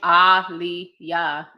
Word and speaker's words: Aliyah: Her name is Aliyah. That's how you say my mom's name. That's how you say her name. Okay. To the freaking Leah. Okay. Like Muhammad Ali.